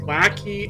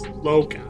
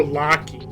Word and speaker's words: Loci: I've heard it pronounced as both Lackey and Lotus. Again, people, this is not complicated. It's Loci, or Locky, if you prefer.